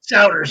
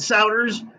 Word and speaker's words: Souders: Souders. Yep. Just like loud Souders.